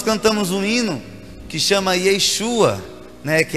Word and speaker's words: Yeshua: O tempo passou, veio o grego, e o grego não usa o sh do Yeshua, então o grego ele se tornou Iesus.